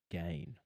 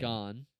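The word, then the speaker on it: Gane: Well, if you learn how to pronounce his name, you'd realize that joke doesn't even come close to working. What do you mean? It's Gain. gone.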